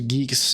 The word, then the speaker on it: Guix: it's I think it's Geeks right it's like to rhyme with Geese how is how is